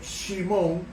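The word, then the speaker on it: שמעון: Su nombre Shimón, así que se pronuncia en hebreo, significa respuesta a la oración, símbolo del desprecio que aún existía de Jacob hacia Lea.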